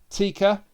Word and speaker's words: Tikka: also uh seth's friend tikka it's spelt like tekker but it's it's pronounced tikka uh played by jenna ellis